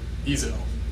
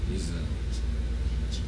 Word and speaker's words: Ezell: Ezell. Ezell. Just like the road.